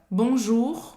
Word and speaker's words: bonjour: O U em francês tem o som da letra U em português. U, bonjour. E tem esse R no final que você precisa pronunciar, que é bem gutural. Bonjour, que ele é gutural. Então, presta atenção, não é para dizer bonjour, tá? Precisa pronunciar esse R. E esse R é basicamente um R de gargarejo.